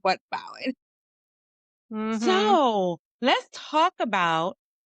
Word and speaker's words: Bowen: Bowden? Bowden. Bowen. I said it wrong the first time. I said it right, but this time I Yep. got it wrong. But Bowen.